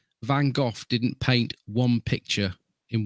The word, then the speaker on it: Van Gogh: But I would say Van Gogh didn't paint one picture in one go.